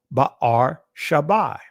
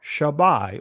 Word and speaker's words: Beersheba: Wherefore he called that place Beersheba. In other words, Ba'ar Shabai. Ba'ar Shabai or Shabai, however you want to pronounce it. Ba'ar Shabai or Shabai. That's the ancient pronunciation of Beersheba, right?